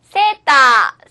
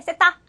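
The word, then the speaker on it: セーター: セーター。セータ 자, 스웨터는 영어니까 외래어를 표기하는 가타카나로 표기하시면 되겠죠. 자, 주의하실 것은 가운데 장음이 2개 들어있기 때문에 세타 이렇게 발음하셔서는 안 된다는 거.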